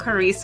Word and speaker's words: Caurice: And she's told me I'm pronouncing her name correctly, right? It's Dr. Yes, Caurice.